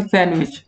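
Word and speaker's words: sandwich: काफी लोग दोस्तों इसको सैंडविच बोलेंगे, काफी लोग इसको बोलेंगे सैंडविच, सही आंसर होता है सैंडविच। तो यहाँ पर डी दोस्तों जो होता है ना वो आपका साइलेंट होता है।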